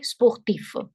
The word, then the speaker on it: sportif: So F is pronounced.